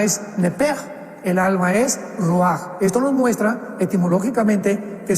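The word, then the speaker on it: רוח: parte espiritual que es la palabra rua que se pronuncia roaj.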